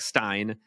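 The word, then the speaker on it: Stijn: it and clarify that it's pronounced somewhat like Stein with the IG IJ sounding like the EI in Einstein um I was just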